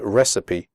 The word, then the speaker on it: recipe: you pronounce the word recipe correctly the ending cipe is pronounced sippy recipe okay so let's get